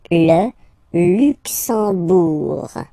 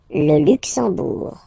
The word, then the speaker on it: Luxembourg: Okay, final G not pronounced, and then when you combine this M here, you get the sound en. You don't pronounce the M at all, it's this nasal en, okay?